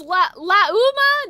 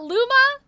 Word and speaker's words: Lauma: It's lauma, not luma.